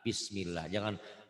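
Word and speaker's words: بسم الله: Kalau sebelum lafaz Allah ini barisnya di atas, ini bisa patah, bisa domah. Sebelum ya, ini lafaz Allah. Sebelum lafaz Allah, barisnya di atas.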